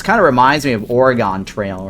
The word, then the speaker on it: Oregon: It's Oregon. Oregon Trail. It sounded the same as a body organ. Yeah. Yep. Organ. Like organ donors.